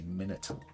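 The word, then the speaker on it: minotaur: haries MERS gorgens and monitors or minitar I heard L of Americans say minitor I've always said it's minor I think both are allowed maybe that is a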